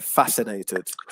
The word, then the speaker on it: fascinated: um with the word fascinated so the stress is on the first syllable they're fascinated there you go perfect